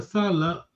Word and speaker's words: sala: Another Salah is long vowel. Salah. Say behind and work. The same word, S-A-L-A. So your tone, the way you pronounce gives the meaning to the word.